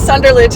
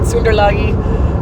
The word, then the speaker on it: Sunderlage: My my maiden name is Sunderlage and he calls it Sundlagi. Um that's the German sort of pronunciation.